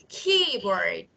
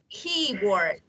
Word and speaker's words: keyboard: parts two syllables now I say listen carefully keyboard keyboard which syllable is exess which part I pronounce louder